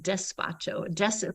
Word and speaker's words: despacho: the soup as much as I like that it's spelled D like dog e-s-p-a-c-h-o despacho think of it as a dispatch of blessings